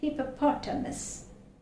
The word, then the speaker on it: hippopotamus: stress is more here so this sound is very much heard it's hippopotamus hippopotamus that's it that's why it is hippa this is more stressed hippopotamus that is the